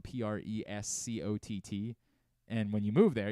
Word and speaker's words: Prescott: Andrew Stecker reminded me there's a town in Arizona that's spelled Prescott. And when you move there, you're like, oh, right, Prescott. They're like, nope. Prescott.